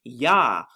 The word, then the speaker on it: Yah: 4 tells us what his father's name is yah or it's pronounced j-a-h or y-a-h ya yahuwah that is